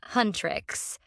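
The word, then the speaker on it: HUNTR/X: K-pop Demon Hunters follows a K-pop girl group called Hunterx, pronounced Hunrix, who lead double lives as demon hunters.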